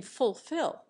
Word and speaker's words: fulfil: not distort the rest an American for example almost always sounds the first L in fulfil an Englishman makes the first syllable foo an American sounds every